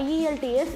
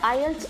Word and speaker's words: IELTS: இது வந்து பார்த்திங்கன்னா ஐஇஎல்டிஎஸ் அப்படின்னு இவ்வளோ நேரம் நான் சொல்லிகிட்டு இருந்தால் கூட இதை வந்து நம்ம ஐஇஎல்டிஎஸ்னு உச்சரிக்கக்கூடாது, இதை வந்து ஐஎல்ஸ் அப்படின்னு தான் சொல்லணும்.